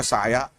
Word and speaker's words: سعنہ: سے ایک تھے, ہاں, اور یہ جو سعنہ کا لفظ ہے اس میں تھوڑا سا اختلاف ہے, کچھ لوگ سعنہ کی جگہ سایہ یا دوسرا تلفظ کہتے ہیں, مشہور سعنہ ہے.